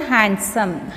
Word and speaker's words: handsome: is a silent letter fourth one handsome handsome handsome so D is not sounding so D is a silent letter in this word next one scratch scratch SC